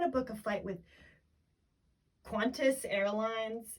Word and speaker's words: Qantas: book a book with quintus i don't know how to pronounce it it's spelt q-a-n-t-a-s but she she pronounces qantas qantas quintus or something she might want to